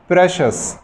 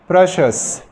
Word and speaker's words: precious: قال لك كمان إذا جاء بعدها إي أو آي أو واي زائد حرف متحرك من الفاولز تنطق شه. مثال ancient، ancient قديم، سي بعدها اي وبعدها حرف متحرك. precious، precious، سي اي وبعدين الاو حرف متحرك.